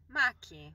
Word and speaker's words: Macchi: Macchi.